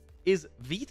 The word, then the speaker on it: Vite: Vite, like feet.